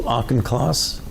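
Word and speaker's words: Auchincloss: division directors who's your deputy uh Dr Hugh auchenclass how do you say his last name class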